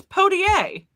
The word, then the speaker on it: Poitier: damn well It's a T in the middle, not an R. It's Poitier.